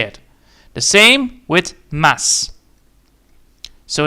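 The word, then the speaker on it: です: The same with mass. So it's not mas, it's maso. It's not maso mas. It is mass. So, Chris Mass.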